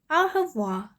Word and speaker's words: au revoir: You say it like this, au revoir. That's French for goodbye.